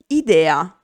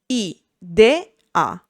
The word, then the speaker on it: idea: We can have I as a standalone syllable at the beginning of a word, for example, idea, I-de-a.